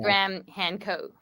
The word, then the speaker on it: Graham Hancock: a a guest on our Buddy Joe Rogan's pronounced gram Han Coke oh yes Han Coke very very good um